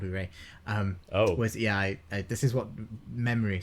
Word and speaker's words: Urey: name was Harold Urey, I've been pronouncing his name wrong as Oya, for which I apologise. Harold Urey.